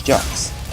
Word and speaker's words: Jacques: actually clarified that is actually a a French word French name so that's that's the reason why it is pronounced as Jack's though anywhere else were